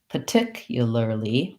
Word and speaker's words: particularly: doing it that way my u becomes kind of a yup particularly um and that may be another reduction that we do when we add those extra syllable that extra syllable lee finally particularly particularly um so the yu ya difference doesn't make too much of a difference i just want to